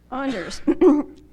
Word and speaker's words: Anders: By the way, I mispronounced his name halfway through the academy, and they finally told me it's Anders. Thanks for not telling me sooner. Anders, remember that your attitude keeps you going or cripples your progress.